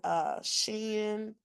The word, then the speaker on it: Shein: I don't know if you guys ever seen on Shein, that's how you say it.